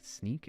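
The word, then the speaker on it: Snyk: I work for uh it's snny YK sneak is how we pronounce it and uh big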